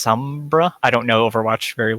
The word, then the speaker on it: Sombra: It's pronounced Sombra.